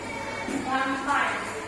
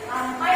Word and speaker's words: Rampai: Rampai. Rampai adalah Rampai, jangan rampai bacanya.